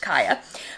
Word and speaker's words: Kia: it and so kaya even though it's spelt like my car kia it is pronounced kaya kaya is the matchmaker